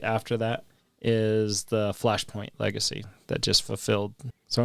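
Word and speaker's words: Flash Point: Fire point. Yeah. Flashoint.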